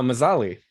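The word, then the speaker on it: Mzali: Oh, Mazzali. Mazzali. Okay. Yeah, that's the city where the Bright Lions operate in the Mwangi experience. Right. I can never pronounce it. There's like a hidden vowel there. Mazzali.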